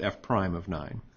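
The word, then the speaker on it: f′(9): It's pronounced f prime of 9.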